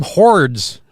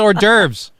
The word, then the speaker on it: hors d'oeuvres: And for the longest time, I kept calling them hordes, like hors d'oeuvres. They're like, no, it's hors d'oeuvres. Like, that's how you say it.